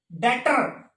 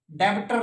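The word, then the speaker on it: debtor: डेटर, डेब्टर नहीं, डेटर।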